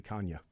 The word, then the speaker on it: Canha: It's actually Kanya. He's like, it's Kanya. The N is sort of like nya. You roll Kanya. And he's like, but everybody calls me Canha, so I don't care.